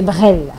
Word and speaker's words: Brel: J'espère que je prononce bien. Bon, on va dire que vous prononcez en anglais. On va prendre ça comme ça, on va accepter. Hein. On va accepter. Mais c'est Brel? C'est Brel.